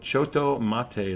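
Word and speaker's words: Chotto Matte: It's called Choto Mate. That's Choto Mate. CHOTTO or TO, and then Mate MATE or MATTE.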